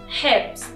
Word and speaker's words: Herbst: دقت کنید Der Herbst. شما حرف پی رو توی کلمه نمیبینید، ولی موقع تلفظ اینطوری ادا کنید.